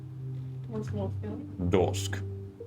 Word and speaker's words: Dorsk: Dorsk. Once more, Phil. Dorsk. Like a door with an SK on the end?